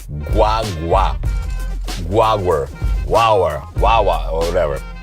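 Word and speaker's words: guagua: say it right guwa guaga guaga it's almost like G way but fast it's almost like guwa but guaga you don't want to say guwa you want say guaga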